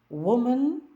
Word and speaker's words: woman: пуш від себе і ще є два слова які просто загубились серед інших слів але мають коротке у у вимові Wolf множина wolз вовк вовки Woman множина Women жінка жінки